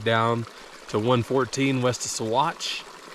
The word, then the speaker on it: Saguache: I'd start at Monarch, head down to 114 west of Saguache. If you try to look up Saguache, Colorado, it's not spelled like it sounds.